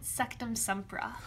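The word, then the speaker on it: Sectumsempra: megan say this because i always mess the pronunciation of this one up sektum sempra yeah that's the one that harry found out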